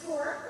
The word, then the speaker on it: SCORE: It's pronounced SCORE, rhymes with more.